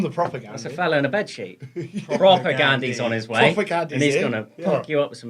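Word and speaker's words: Propagandhi: been saying it wrong is it proper Gandhi propaganda yeah yeah like Mahatma Gandhi but prior rocket like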